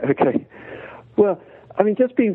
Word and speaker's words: oca: one which is um a vegetable called Oka which is spelled OCA I'm only trying it myself